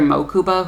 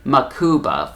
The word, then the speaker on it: Mokuba: for would be that the character mokuba who as you know his name wasn't changed in the four kids dub in this dub they call him makuba for some reason i don't know why they mispronounce it that way but they just do